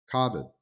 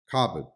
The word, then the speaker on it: cupboard: Or the word cupboard, cupboard, that is spelled with 8 letters, but has only 5 sounds in its pronunciation.